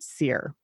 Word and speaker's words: Cere: this former Jedi named seer and her name is spelled c e ar e but it's pronounced like seer like like I'm a